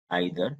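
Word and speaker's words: either: Distributive pronounce में normally 3 word ध्यान रखना है हमें, ईच, आइदर, इसे इधर भी पढ़ते हैं, नाइदर, नीदर भी पढ़ते हैं।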